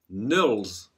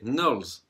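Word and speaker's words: NULS: Numéro 3, Nulls. Je vais le prononcer à l'anglaise parce que si on dit nul, ben, c'est un peu naze. Donc je vais le prononcer comme les Américains. C'est Nulls.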